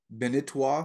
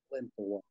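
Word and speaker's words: Balintawak: I'm going to see if I can pronounce it. Benintawa system. Is that right? Balintawa.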